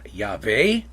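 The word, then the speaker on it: Yahweh: And so I pronounce God's name Yave. There are other people who pronounce it a different way, but you'll see me probably using Yave.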